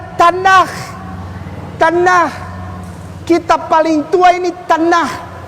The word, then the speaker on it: Tanakh: Dibacanya Tanakh. Tanakh.